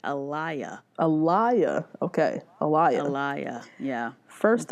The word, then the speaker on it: Alea: Chris Harrison pronounced it Alaya.